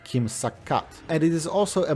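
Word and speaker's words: 김삿갓: In Korean, the name is pronounced “Kim Sak-gat”, and it is also a moniker of Kim Byung-Yeon, a travelling 19th century poet.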